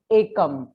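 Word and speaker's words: एकम्: So we will pronounce this dot over ka as ekam.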